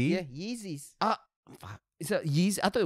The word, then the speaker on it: Yeezy: rolling up with these new how do you pronounce this easy yeezys yeezy is the first one is it easy yeah not easy yeah yeezys is that yeezys i thought yzy and this